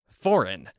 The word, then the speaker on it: foreign: another country that's right do not pronounce the G in foreign this is an important word to know how to pronounce foreign yes I know English